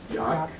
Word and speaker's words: Jaak: So, Panksepp, I don't know how to say his first name. I think it's Jaak. Is it Jaak? Okay, Jaak Panksepp.